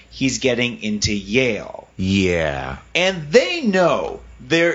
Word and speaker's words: Yale: people because they know that Yale rhymes with jail so they know what